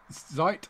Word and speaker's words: Zeit: Zeit. Have I said that right? Zeit, yeah, time. German for time.